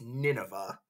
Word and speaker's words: Nineveh: I know it looks like Nineveh, but it's pronounced Nineveh.